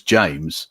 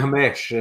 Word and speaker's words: James: And his name was James, and he goes James. They're calling it Hamesh, and and they say things like, "Oh no, I can handle English food.